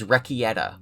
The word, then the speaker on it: Rekieta: You guys made fun of how I pronounced it last time. I get it now. It's Rekieta.